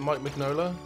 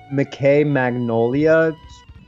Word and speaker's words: Mike Mignola: Did you know that, is it Mike Mignola, who, the Hellboy guy, did a lot of character designs on Atlantis? I believe it's pronounced McKay Magnolia.